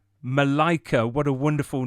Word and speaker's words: Malaika: Have I pronounced that correctly? Because I'm rubbish with names. Is it Malaika? Malaika. Malaika, what a wonderful name.